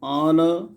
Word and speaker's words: honor: is the answer huge honor hungry honor it's silent honor public pure tube public